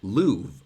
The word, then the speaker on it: love: research and found that the way they pronounced love back in the day was as Louvre. And so back in Shakespeare's time, Louvre, I love you, and remove would then rhyme with each other, where I guess today